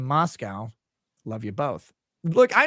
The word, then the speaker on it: Moscow: and divine says gentlemen it's pronounced Moscow my mother always told me to remember there are no cows in Moscow love you both look